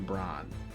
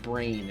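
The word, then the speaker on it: Brahne: zidane pronunciation belong a I also use the Bron pronunciation for the queen queen Brawn but I do know that brain is also popular so this is what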